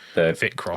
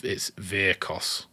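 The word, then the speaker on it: Vyrkos: While we're with the Vic Cross, like that makes more sense. That'll help the timestamps. I've set that wrong. I don't know. It's Virkos.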